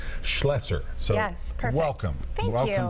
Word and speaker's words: Schlesser: Okay, it's SCHLOE, so it's Schlesser.